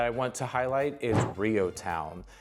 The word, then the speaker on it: REO Town: The next area in just Lancing proper that I want to highlight is Rio Town. It's spelled Reo Town, but we call it Rio Town.